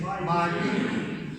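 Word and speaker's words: 马云: Pronunciation, Ma Yun.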